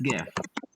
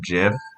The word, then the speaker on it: GIF: going off of what gif actually means graphic interchange format all right it's a hard g graphic not traffic wait oh okay yeah